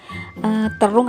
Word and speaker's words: terong: ingini Ada terong ungu terung apa terong gitu ya pengucapannya karena kadang ada orang yang bilang terung Ada yang bilang terong Kalau aku sih bilangnya terong ya terong ungu Ya begitulah